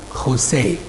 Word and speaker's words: José: J in there in Peru, it's pronounced Kha. So he is José.